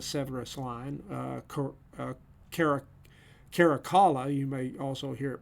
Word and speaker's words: Caracalla: ruler in the severus line uh uh carrick caracalla you may also hear it pronounced corracula uh but caracalla the tertullian states at a pamphlet that caracalla